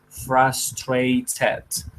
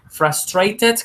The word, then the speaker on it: frustrated: Podemos pronunciar esta palabrita como frustrated con T, es aceptable. O asimismo podemos hacerla con R, rareriroru, frustrated.